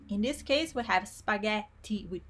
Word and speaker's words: spaghetti: Moving on, let's see another pattern with G, and it's the pattern that we find in words like spaghetti, spaghetti. GH in Italian always make the sound GHE always make the sound ge, and GHI always make the sound gi.